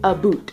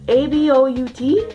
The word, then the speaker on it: about: and like a normal person would not say a boot. I literally have never heard anyone say a boot besides actually referring to the shoe, like the type of shoe that is a boot. A-B-O-U-T is pronounced about, and if anyone, Canadian people,